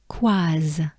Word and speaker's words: Coise: We have quaz, quaz, quaz. So yeah, it's basically quoi, quoi, quoi, quoi, quoi, quoi, quaz, quaz, quaz. We take a good breath, and here we go.